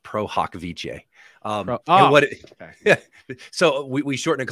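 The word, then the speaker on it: pro hac vice: Cali so it's actually it's a Latin phrase it actually is pronounced prohokviche um so we shortened to call it pro-haw oh I'm admitted prohawk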